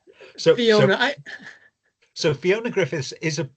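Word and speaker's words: Ffion: is spelt slightly differently, so that the F sound in Welsh, you need two Fs together. If there's only one F, it's a V sound, and it does not end on a vowel. So the Welsh name is Fion.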